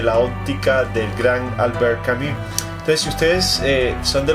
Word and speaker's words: Camus: Camus se pronuncia, hace la boca como una O y dices I. Hace la boca como una O y dices I. Albert Camus. Sí, no es Camus. Porque mucha gente dice Camus, pero no es Camus, es Camus.